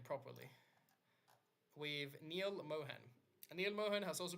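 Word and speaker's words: Neal Mohan: does and she's getting replaced with let me pronounce the name properly with Neil Mohan and Neil Mohan has also been working in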